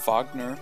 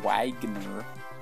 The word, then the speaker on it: Wagner: of avoid um so Wagner yes I do pronounce it the the way that the composer pronounces it it's not a Wagner Americans is taking a